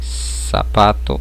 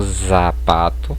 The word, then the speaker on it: zapato: Ela vai ter um sonzinho de S, né? Como em sapato e não zapato, percebam, a pronúncia é diferente.